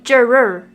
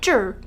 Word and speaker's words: juror: member of a jury some people often break up the r sounds into two juror but it's actually jer kilometer often mispronounced as